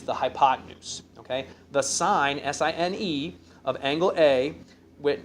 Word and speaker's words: sine: hypotenuse okay the sine SI n e of angle a with written sin a where we will pronounce it sine a is defined as follows